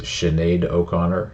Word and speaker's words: Sinead O'Connor: hey yo we're back this is Sinead O'Connor I know I said it right that time